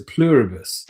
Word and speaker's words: Pluribus: It's a Pluribus.